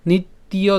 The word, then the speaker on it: নিত্যং: তাহলে আমি যদি প্রথম লাইনটি আবার বলি অথচ নিত্যয় জাতং নিত্যং বা মন্নিয়সে মৃতম এরপর তথাপি তথাপি হ্যাঁ আর এটা সম্পূর্ণ যদি একসাথে উচ্চারণ করি তাহলে সাথে উচ্চারণ করলে হবে তুয়ং